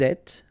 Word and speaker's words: êtes: Vous êtes, little liaison to between the two, and then final S not pronounced.